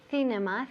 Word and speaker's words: cinema: So nunca decimos cinema. Cinema, la C en inglés no es Z. C no. Es como si fuera una S.